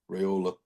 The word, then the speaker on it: Raiola: they don't know the question mark of how Raola or however you say his name is going to be once they take snaps against a really good Michigan defense. Yeah. Raola. Raola. Raiola.